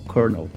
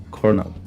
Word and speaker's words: colonel: aqui a segunda sílaba, esse segundo O, ele não é pronunciado. Seria aqui só o R, então colonel, colonel.